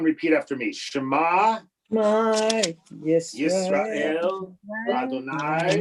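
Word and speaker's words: ישראל: Yisrael, right, is stressed on the last letter.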